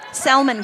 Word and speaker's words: salmon: some peach headbands tonight salmon colored yep yep good good d girls and if you're not from southern minnesota that l is silent time out hey let's